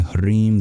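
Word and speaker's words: ह्रीं: And the L is trilled in Kleem, and the R is trilled in Shrim and Hrim.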